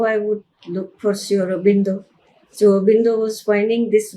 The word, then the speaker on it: Sri Aurobindo: Now I was thinking how I would look for Sri Aurobindo.